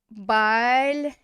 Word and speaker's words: большой: The stress is on the end. So we're going to go большой. And that one is going to get pronounced as a oy because it's the stressed ending.